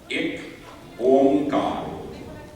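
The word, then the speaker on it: Ik Onkar: Ekamkar. This one. That's very good. Try honey. Ik Omkar. That's how we say it.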